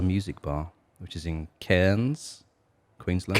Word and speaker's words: Cairns: No, has been DJing at a bar called Elixir Music Bar, which is in Cairns, Queensland. Cairns. I think that's how you say it. Cairns. Not Cairns. Cairns. It's something like that.